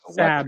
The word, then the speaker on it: Sab: Sab is how you pronounce it.